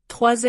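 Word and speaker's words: trois: 3 ends with wa.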